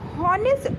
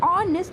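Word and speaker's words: honest: तो हॉनेस्ट ऑनेस्ट के लिए जो ये हॉनेस्ट लिखा हुआ है इसमें हमारा एच जो होता है साइलेंट होता है तो उसे हम क्या बोलते हैं? ऑनेस्ट बोलते हैं।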